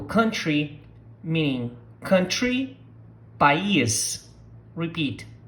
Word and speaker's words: país: We're going to start with the title of the song, which is Tropical Country, meaning country, país. Repeat, país.